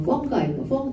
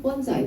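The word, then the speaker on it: fungi: 식물 있고 그다음에 어 펑가 펀자이 뭐 두 개 발음으로 두 하고 있는데 이제 균류 그렇죠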